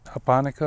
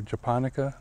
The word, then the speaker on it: japonica: The Latin name for this is Pseudosasa japonica, or japonica, depends on how you want to pronounce it.